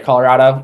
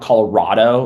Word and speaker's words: Colorado: The state Colorado, we say Colorado. It's rad as in cool. Not Colorado like a rod. That's wrong. You're false. So, um, if you ever know a Colorado, you now know how